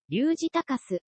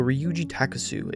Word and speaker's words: Ryuuji Takasu: Ryuuji Takasu.